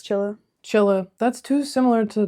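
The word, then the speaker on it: Csilla: Chilla, or whatever the fuck, however the fuck you pronounce that. It's Chilla.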